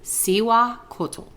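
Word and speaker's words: Cihuacōātl: And I looked up the pronunciation because I wanted to make sure it was right because it didn't look like that when her name was there. But it's Cihuacotl.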